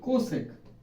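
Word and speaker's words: cosec: এরপরে 4 নাম হলো কোসেকেন্ড, এর নাম হলো কোসেক, উচ্চারণ হবে কোসেক।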